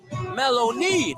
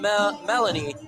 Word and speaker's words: Maloney: It's Maloney pronounced. Maloney, not Melanie.